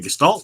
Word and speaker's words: Gestalt: Is that how you pronounce it? If you're trying to say Gestalt, yes.